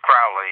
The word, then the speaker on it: Crowley: I've heard Crowley and Crowley, but it is Crowley, right? It's Crowley, yes.